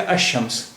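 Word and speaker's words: الشمس: जैसे अल शम्स, शम्स, लेकिन अब यहाँ देखिए शीन से शुरू हो रहा है, शीन हरूफ शमसी है, इसलिए इसका साउंड डबल हो रहा है। तो लाम का साउंड यहाँ पर नहीं आएगा, लाम यहाँ पर साइलेंट हो गए, तो ये हो गया अशम्स।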